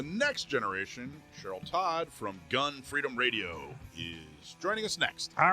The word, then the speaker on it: Gun Freedom Radio: freedom radio well i love that you are pronouncing it correctly right because it is emphasis on gun freedom radio and you got it just right um so